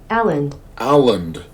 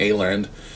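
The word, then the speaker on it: Åland: that folder of what apparently this is how you say it here folks Allen Allen I was definitely pronouncing that wrong I'm saying aland well what do I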